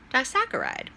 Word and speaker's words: disaccharide: Let me spell it for you. D as in David, I, S as in Sam, A, C, C, H, A, R, I, D, E. And it's pronounced disaccharide.